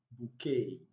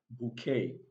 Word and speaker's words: bouquet: chalet and we have bouquet now the three final words are of french origin so beside the last letter t is not pronounced in the three words sashay charlay and bouquet it's also important to